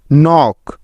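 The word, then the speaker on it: knock: এফ E knife নক কে এন ও সি কে নক NEET K এন আই T NEET Neil K N double E এল নীল এখানেও প্রতিটি উদাহরণে এন এর আগে কে আছে তাই এগুলোতে কে সাইলেন্ট বা উজ্জ্ব আছে দেখো এল লেটারটি সাইলেন্ট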